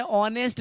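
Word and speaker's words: honest: बाबू यहाँ पे उच्चारण है ऑनेस्ट लिखा हुआ है, ये इसका जब उच्चारण करिएगा तो यहाँ पर आप देख रहे हैं कि ऑनेस्ट होता है, ऑनेस्ट, ठीक है। अर्थात यहाँ पे देखिए अ का उच्चारण हो रहा है, और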